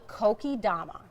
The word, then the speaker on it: kokedama: Okay, this is called a kokedama.